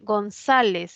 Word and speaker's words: González: pasemos a lo siguiente González es una palabra grave que termina en Z las graves que terminan en Z se tildan Claro que